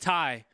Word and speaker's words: Ty: Oh, it's just Ty. Ty. Good heads up on that. Thanks for the correct pronunciation.